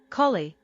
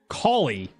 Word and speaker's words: Cali: Collie. Collie. Really? Not cow, but call.